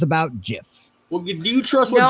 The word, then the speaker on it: GIF: Well, it's a soft G, even though the creator of it says that it's a hard G.